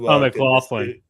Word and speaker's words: McLaughlin: McLaughlin. Yeah. McLaughlin. Okay, that's how to pronounce it.